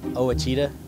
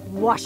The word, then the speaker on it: Ouachita: here for you uh I've heard people say Oita oh a Oita is it pronounced Oita searching for Baptist University back in Texas everybody pronounces it Witchita but really it's was wash was how would you pronounce it was it's